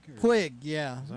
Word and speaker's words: Puig: Puig? Puig, yeah. Is that how you say it? Yeah, that's how you pronounce it.